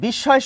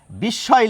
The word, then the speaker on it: বিস্ময়: মফলা যদি শব্দের মাঝে থাকে তাহলে যে বর্ণের সঙ্গে যুক্ত থাকবে সেই বর্ণ আমরা দুবার উচ্চারণ করব। তো এখানে কোন বর্ণের সঙ্গে যুক্ত রয়েছে? দন্ত স-এর সঙ্গে। দন্ত স-এর উচ্চারণ বাংলায় আমরা তালব্য স-এর মতো করি, প্রমিত বাংলায়। সেই জন্য দেখুন, এখানে বিস্ময় লিখেছি এবং ওই তালব্য স দুবার লিখেছি এখানে।